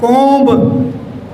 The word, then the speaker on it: comb: But here, again there is OMB. We pronounce it as comb. Again ba is there, but this is not pronounced. So this is comb.